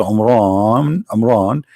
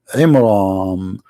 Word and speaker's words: Imran: the name wrong because it's not Amran, it is Imram, which means the last letter is M, not N.